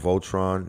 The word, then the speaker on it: VLTRN: It's spelled Voltron, VLTRN.